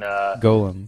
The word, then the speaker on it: Golem: he was just like barely old enough for Golem. You know, he was just a little baby. This is Golem. Golem was a creature in Golem.